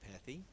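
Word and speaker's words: Pethe: King, and I would also like to recognize the Stateport pilot reporter, Pethy. I asked him how to pronounce his name.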